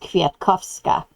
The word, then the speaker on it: Kwiatkowska: And women's last names were pronounced with an A on the end as opposed to men's, which ended in an I.